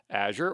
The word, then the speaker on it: Azure: certification well uh the Azure fundamentals is the entrylevel cloud certification for Microsoft Azure or Azure uh and you'll see me alternate between those uh pronunciations they're both accepted so whichever you prefer